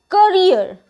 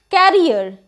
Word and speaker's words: career: word handsome it is not handsome it is pronounced as handsome the next word is career career means a job or a profession that you carry along but what do we usually say carrier carrier is something else and career is something